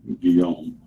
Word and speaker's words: Guillaume: The career of Robert Guillaume, pronounced with a hard G, Guillaume, almost ended in January 1909 at Walt Disney Studio.